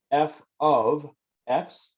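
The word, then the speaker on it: f(x): here and f with the parentheses afterwards it's pronounced like this f of x it does not mean multiplication so we're not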